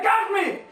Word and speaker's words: Crapsmith: ¡Pero se pronuncia Craftsmith!